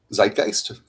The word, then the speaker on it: Zeitgeist: Zeitgeist.